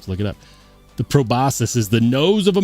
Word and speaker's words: proboscis: Proboscis. Really? Proboscis.